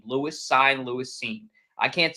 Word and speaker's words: Cine: I think Cine is how you say it.